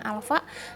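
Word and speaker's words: α: Kayak Hai Alfa ya cara bacanya Alfa satuannya adalah Radian per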